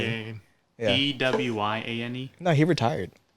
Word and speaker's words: Dwyane: It's spelled weird, isn't it? Yeah. It's duh Pronounced and then Wayne. Dwayne.